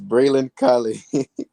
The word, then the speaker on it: Braylon Calais: the takeaway for those folks to be of Braylon Calais right now as you wrap up sophomore year? Yeah, just like you said, for anyone wondering how to pronounce my name, is Braylon Calais.